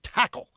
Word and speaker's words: Takl: It's called Tackle. It's spelled Takl.